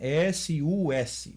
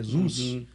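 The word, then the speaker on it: סוס: S-U-S. Se você for lá, o Samek, Vav e Samek, no dicionário, você vai achar que significa cavalo, que é Zuz, ou Sus, ou Zuz, dependendo da pronúncia.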